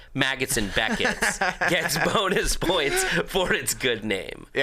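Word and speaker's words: Maggotts: Maggots and Becketts gets bonus points for its good name.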